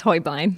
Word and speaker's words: Hoybline: First up is Hoybline, whose last name is often mispronounced, but I think I got it right. You actually didn't. It's Hoybline. Hoybline.